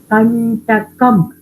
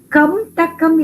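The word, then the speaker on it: कण्टकम्: Kantakam. Kantakam. And if you really see, for pronouncing kamtakam is difficult, kantakam is easy to pronounce.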